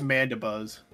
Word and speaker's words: Mandibuzz: do you say Mandy Buzz it it is mandab Buzz let's not let's not get it say coffe